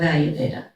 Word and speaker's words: Ayurveda: And you know, some people say, oh, that long word, and then I don't know how to pronounce it, you know? So, Ayurveda.